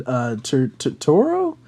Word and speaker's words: Turturro: I don't know how to say his last name, but he was in the most recent Batman movie, John Turturro.